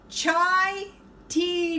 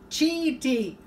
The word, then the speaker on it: chai tea: I was mispronouncing it's supposed to be chai tea not cheap tea and somebody told me